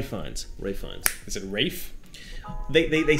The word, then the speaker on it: Ralph: It's spelled like Ralph. Yeah. Maybe they do say Rafe.